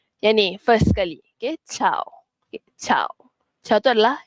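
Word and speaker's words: ciao: Okey, chau. Okey, cha. Chau tu adalah helo ataupun bye. Okey, cha means helo dan juga bye. So, cha. Okey. Dia bukan siu ataupun kiau cau.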